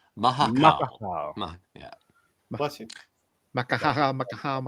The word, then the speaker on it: Mahakaal: Mahakaal. Mahakaal.